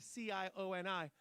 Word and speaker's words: Cioni: Thomas Cioni. Now, I'm saying it's Cioni, C-I-O-N-I, but you know that in Italy, they pronounce that one C with a ch.